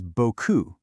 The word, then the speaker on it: beaucoup: You see the word beaucoup, but what you hear is beaucoup. That P is just gone.